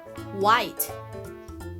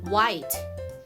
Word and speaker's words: white: A ต่อ มา ค่ะ คำ นี้ อ่าน ว่า White White W as I T E White แปล ว่า